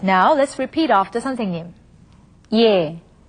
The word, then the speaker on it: 예: Now, let's first look at instances when it is pronounced simply as yeah. Alright, now let's repeat after 선생님. 예, 예, 예술, 예술, 예뻐요, 예뻐요.